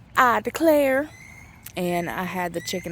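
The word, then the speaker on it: Ida Claire: It's spelled Ida and then Claire, but it's I Declare.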